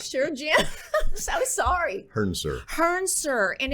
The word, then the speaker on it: Hrncir: um I am introducing you all to Jim hurster help me out there I butchered your name again I'm quite sure Jim I'm sorry sir Hearn sir and it's and it's spelled so lovely but